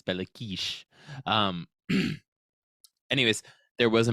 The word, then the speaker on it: Béla Kiss: on bakish that uh which is the technical pronunciation of his name but it's more funny in English to say belliss because that's a literal spelling so I'm going to say that but technically in Hungarian it's bakish um anyways there was